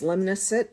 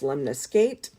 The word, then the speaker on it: lemniscate: I've heard it pronounced lemnicet. I've heard it pronounced lemniscate. Tomato, tomato.